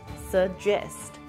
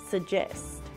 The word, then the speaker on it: suggest: on the second syllable suggest suggest notice that there is no proper G sound here just a j sound J suggest speaking of